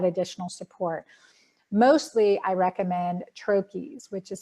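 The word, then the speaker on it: troches: we need that additional support mostly I recommend trachis which is spelled TR o CH es and these are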